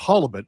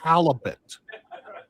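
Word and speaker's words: halibut: And it's pronounced halibet. I'm from Maine. Not halalibet.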